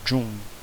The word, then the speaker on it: June: Esse E, ele praticamente não vai ser pronunciado. Ele não vai ser pronunciado. June.